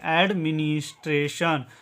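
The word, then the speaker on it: administration: और TION का उच्चारण करेंगे सन, ठीक है। इसको पढ़ेंगे एडमिनिस्ट्रेशन, एडमिनिस्ट्रेशन इसका उच्चारण होगा, ठीक है।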